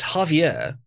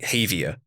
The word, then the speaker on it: Javier: to announce the N I believe it's Javier of around yeah Javier that's how I pronounce his name correctly yeah so a good it's Javier I believe V said it wrong said like Havier which is who cares